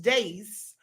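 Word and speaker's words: deis: The 3 wheels of time are the day, or the Latin word is days. That's D-E-I-S, but it's pronounced days.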